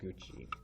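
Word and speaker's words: 口: Don't forget, if it's part like the second part of a word, like a compound word, it might be pronounced gucci.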